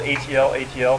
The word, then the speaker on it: atlatl: addle so you can that's pronounced a TL or it spelled a TL a TL pronounced atlatl or atlatl either way you can just think